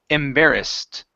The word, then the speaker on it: embarrassed: So when we have ed endings, okay, they have a T sound or a D sound, sometimes an ID sound. Here it's a T, so the word is embarrassed.